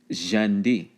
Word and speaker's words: Santee: So when again you're talking kusabo, kushapo, okay, by Eastern Muskogeans, while an external S was a j sound, like Santee would be properly pronounced Jandi.